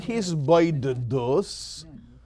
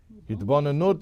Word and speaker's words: hisbonenus: Hitbonenut is the noun, or I pronounce it hisbonenus.